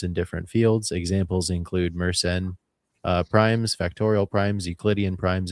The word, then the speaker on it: Mersenne: Mersenne is how you pronounce it.